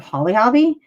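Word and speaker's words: Holly Hobbie: I mean, and isn't ruffled lace like the epitome of Holly Hobby?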